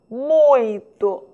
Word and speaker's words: muito: pronuncia a palavra muito muito observou o som é nasal 100% a língua portuguesa apresenta